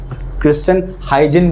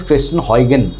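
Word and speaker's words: Christiaan Huygens: के एक साइंटिस्ट है, क्रिस्टन हाइजिन बोलते हैं इंडिया में। ये जितने भी एशियन कंट्रीज हाइजीन कहते हैं, लेकिन सही the proper pronunciation is क्रिस्टन हॉयगन। क्या है? क्रिस्टन हॉयगन, ये प्रोनाउंसिएशन है उसका।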